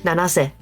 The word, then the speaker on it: Nanase: Say her name properly. Nanase. Yeah, sorry, I would call her Nene's, but like just for jokes. But you actually pronounce it Nanase.